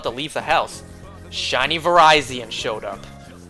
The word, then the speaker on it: Virizion: leave the house, shiny Virizion showed up. Not shiny Virizion, it's not pronounced Virizion. Just like it's not Rayquaza, it's Rayquaza, it's Virizion.